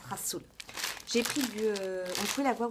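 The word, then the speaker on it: rhassoul: Enfin, ça s'écrit Gazoul, mais ça se prononce rassoul.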